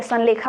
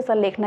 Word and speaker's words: संलेखना: ठीक है, संलेखा आप कहते हैं, कुछ आप लोग प्रोनाउंसिएशन संलेखना करते हैं, वैसे संलेखना ही होता है।